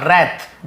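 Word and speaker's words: wrath: Raise और रैथ, W silent होता है, रैथ लेकिन लिखते हैं।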